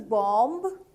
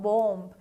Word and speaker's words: bomb: The pronunciation, do you think it is bomb? Not really. It is not bomb. It is bomb. The B which is in the end is actually kind of silent.